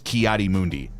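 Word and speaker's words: Ki-Adi-Mundi: characters from uh Star Wars his name is kiari Mundi and he's like what did you just say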